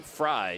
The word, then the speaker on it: Frey: a 5-8 excuse me pronounced that correctly fry she pronounces it went